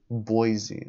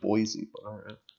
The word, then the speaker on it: Boise: and cons idahoan is where wasis was Idaho pronunciation Boise okay I didn't think it was Boise Boise peace out I'm gone it's on the